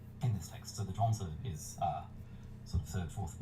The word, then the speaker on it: Zhuangzi: I think zhuangzi is the way that it's typically pronounced, as if it was modern.